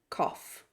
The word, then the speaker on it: cough: although or though or sometimes that GH is pronounced as an F so words like laugh or cough bring brought brought bring